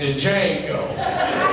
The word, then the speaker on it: Django: X Barack Obama and Django dude behind was like the D is silent man uh hi my name